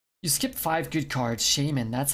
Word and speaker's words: Shaymin: a nice lady you skipped five good cards shaymin that's how you pronounce it and i thought you couldn't get